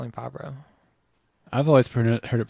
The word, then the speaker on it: Favreau: Could we call him Favre or should we call him Favreau? I've always heard it pronounced Favreau.